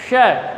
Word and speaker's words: श: यानी जीभ को ऊपर की ओर घुमाना है। ऊपर की ओर घुमाते हुए उसे अपने चेहरे से अपने जो ऊपर का जो तालु है उसे स्पर्श करना है। श ऐसे इसका उच्चारण होगा।